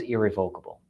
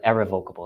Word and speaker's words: irrevocable: Trusts back then were always irrevocable, or irrevocable is the more proper way to say it.